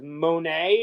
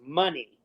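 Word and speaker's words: Moné: njpw as a Mercedes Monet or Monet it's interesting um so the funny part actually is a voiceover pronounces it as money so for me it's Mercedes money so for everybody else's Mercedes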